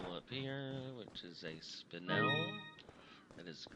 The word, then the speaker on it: spinel: There's a jewel up here, which is a spinel. That is the correct pronunciation.